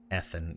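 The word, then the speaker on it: Ethen: Ethan, E-T-H-E-N. Looks like Ethan, but pronounced Ethan.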